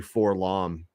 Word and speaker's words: 4-LOM: because to this day I don't know if it's pronounced forlam or four l o m um Charles says it's actually for long but then continues but